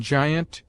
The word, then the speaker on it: giant: G before I is hard, as give, except in giant, gigantic, gibbet, jibe, giblets, giles, gill, gilliflower, gin, ginger, jingle, to which may be added Egypt and gypsy.